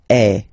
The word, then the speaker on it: es: And for tu, then you've got this combination of letters, okay, but then basically the sound you will pronounce or you will produce is est, okay. Tu es, all right.